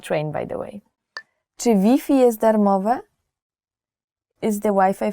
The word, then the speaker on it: Wi-Fi: So you have to change the Wi-Fi pronunciation. Even though the word is the same, the spelling is the same, you have to change Wi-Fi to Wi-Fi.